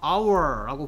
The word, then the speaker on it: hour: 그러니까 hour라고 봐. 얘 발음이 뭐랑 똑같냐면 얘랑 똑같이 들려. 네. 이거나 소리는 똑같아. 뜻은 물론 네. 다르지만. 네. 그래서 얘는 H가 소리가 안 나기 때문에 네. hour고 아 소리는 모음이라서 한